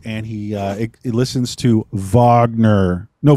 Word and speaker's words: Wagner: uh he's listening to Vagner and what I love tidbit from the commentary is um they just rolled with uh that actor mispronouncing uh vogner's name and just going Wagner that's the [ __